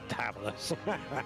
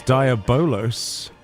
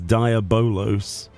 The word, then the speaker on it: Diabolos: Yeah, it's definitely Diabol Diablo. It's not. It's Diabolos. It's not because I'm British and we don't do that. It's like it's it is even spelled and pronounced supposedly as Diabolos for some reason.